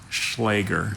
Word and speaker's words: Schläger: Are there any alternate pronunciations? Just the one, Schläger. Schläger, can I have all the information?